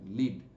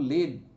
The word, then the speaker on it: lead: LED, অর্থাৎ আবার বলছি এটা স্পেলিং নয়, এটা প্রোনাউন্সিয়েশন, লিড। কিন্তু দেখো যখন লেড একটা কেমিক্যাল এলিমেন্টকে বোঝায় তখন কিন্তু আমরা উচ্চারণ লিড বলি না, তখন বলি লেড।